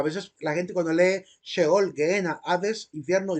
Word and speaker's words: Sheol: Se debe pronunciar Sheol. Algunos dicen Sheol porque ven la letra S, pero lleva un símbolo en la parte de arriba para hacer referencia a la SH inglesa.